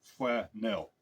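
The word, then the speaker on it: Flanell: Germans called it uh their pronunciation was flanel I guess something like that it was like flanel not flannel like we say it today um very germanes I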